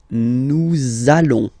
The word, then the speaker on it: nous allons: it does mean that you will have to pronounce this z sound, okay, listen to me, nous allons, nous allons.